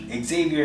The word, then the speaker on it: Xavier: The last name I'm using now, however, is the Spanish pronunciation. So Xavier is the Americanized version of that.